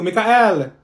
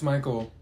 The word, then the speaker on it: Michael: Thank you, Mikael. Ma'am, it's Michael.